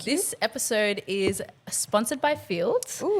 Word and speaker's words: Feeld: Um, so Field also is spelled F E L D for people wondering what the app is called and how it's spelled cuz it sounds like field like field day out in the field.